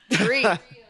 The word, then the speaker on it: Drea: Dree. Dree? Just think DRE.